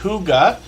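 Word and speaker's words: hygge: few times but hopefully everybody will connect with Huga Homestead uh that's how we pronounce that name h y g g e it's pronounced Huga and it means peaceful comfortable home in Danish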